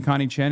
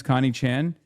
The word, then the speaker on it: Connie Chan: Stop saying Connie Chan. It's Connie Chan.